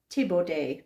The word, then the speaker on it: Thibodeau: charlie i am major maurice thibodeau he pronounced tibor day so charlie i am major maurice tibberdae i am the boss